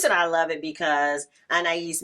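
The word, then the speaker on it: Anaïs: I love it because anise Mitchell I think she even pronounced it anas Mitchell I'm up here butchering her name um that she wrote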